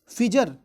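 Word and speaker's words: Pfizer: अगला क्वेश्चन ये है, फिजर बायोन एंड टेक। एक्चुअली क्या है, इसमें पी जो है साइलेंट है, इसको पढ़ते हैं फिजर, लेकिन पी के साथ इसको लिखा जाता है।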